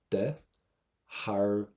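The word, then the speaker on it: de bharr: Do not pronounce the T. We're going to get a V sound. De harve.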